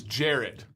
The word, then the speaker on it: Jared: The pronunciation of his name changes each week. Ready to blow your mind here. It is Jared.